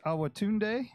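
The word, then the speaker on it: Awotunde: and coach I see he had a Josh our Tunde is that how you pronounce that that's right hey what you you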